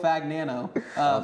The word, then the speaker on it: Fagnano: So, this guy's name Joe Fagnano. What a guy. That's how you pronounce it.